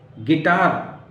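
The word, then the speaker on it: guitar: तो quilt, गिटार, यू नहीं पढ़ेंगे, गिटार, यू की जरूरत ही नहीं समझ में आ रही यहाँ, राइट।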